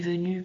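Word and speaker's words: venus: Donc au niveau visuel, Vénus est venue, ça se correspond, mais vous entendez bien que à la fin de Vénus, on prononce bien us, et par contre, le S est muet dans venu.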